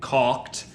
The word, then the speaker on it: caulk: Okay, that's gonna get caulked. I have to try to make sure that I'm actually pronouncing the L in caulk. Otherwise, it's a different word entirely.